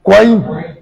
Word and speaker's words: Kwame: Bon, Kwame là, chez les Baoulés, la terminologie Baoulé même, c'est quoi s'il vous plaît? Quoi? Kwaïn. Kwaïn. C'est Kwaïn.